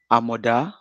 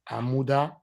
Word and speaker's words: Amoda: Amoda. Amuda. No, Amoda. Amoda. Amoda.